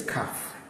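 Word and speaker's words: כ: Then we have this is kaf. Kaf, as you can see, the dagesh here is pronounced as kaf.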